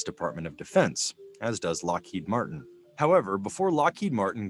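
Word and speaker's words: Loughead: named Lockheed Aircraft Company Lockheed l u g h e a D is pronounced like Lockheed people had a hard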